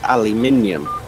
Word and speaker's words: aluminium: minute you guys say aluminum or aluminum it's aluminium no y'all just break the symbol the y'all just break the syllables down wrong no we break them down